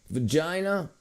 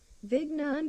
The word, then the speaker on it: Vigna: Vagina.